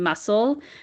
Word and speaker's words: muscle: In muscle, we know the C is silent, but in muscular, you're hearing the sound of the C for muscular.